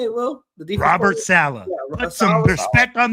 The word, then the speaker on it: Saleh: The defense Robert Saleh.